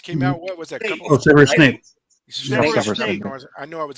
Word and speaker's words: Severus Snape: is chime in InArt, and that's what's that Service Snap from Harry Potter that just came out. What was that? Severus Snape.